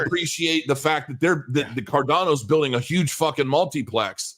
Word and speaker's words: Cardano: Is it Cardano or is it Cardano? Neither. Cardano. It's not Cardino either. It's Cardano. Cardano.